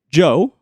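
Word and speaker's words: DJO: his own music under his own name, Joe, but it's not spelled as Joe. It's spelled as DJ O with a silent D.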